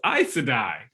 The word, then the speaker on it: Aes Sedai: And also helped me figure out how to pronounce so many of those names. Oh yeah, no. Aes Sedai. Oh, it's Aes Sedai.